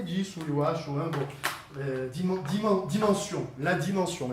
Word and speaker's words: dimension: Dimensão, la dimension. Em francês se diz c'est la dimension, e se escreve assim.